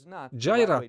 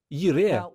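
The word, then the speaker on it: יִרְאֶה: пісню знають багато християн джайра так вимовляти неправильно слово це їре що воно означає не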